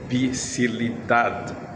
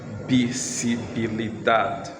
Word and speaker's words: visibilidad: In Spanish, it is called visibilidad. Okay, Spanish, their V is pronounced as B.